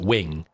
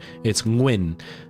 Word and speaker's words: Nguyen: It's Nguyen. But because Vietnamese uses the ng sound a lot more than you do in English.